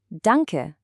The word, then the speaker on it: Danke: Let's pronounce it cheerfully and nice and slow together. Dun- ke. Danke. I'm going to pause right